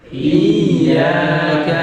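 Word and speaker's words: إِيَّاكَ: Ya-nya ada apanya? Tasdid. Nah ini yang sering dilalaikan orang. Tasdidnya enggak dibaca. Bacanya begini. Mereka Iyyaka na'budu wa iyyaka, kan? Tasdidnya enggak dibaca. Akhirnya I-nya panjang, nambah huruf. Tasdidnya enggak dibaca, ngurangi huruf.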